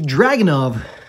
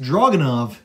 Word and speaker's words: Dragunov: okay we're going to talk about it the dragon of which is actually properly pronounced draganov is not an ak let me break this